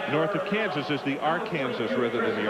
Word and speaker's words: Arkansas: It's like there are areas that have their own special pronunciations or spell. It's like uh uh the river north of Kansas is the R Kansas rather than the Arkansas.